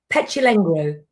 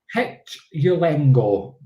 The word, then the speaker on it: Petulengro: You did say it right. Petulengro. Petulengro. It's because it's got that R in it, and us Scottish people need to roll our R's.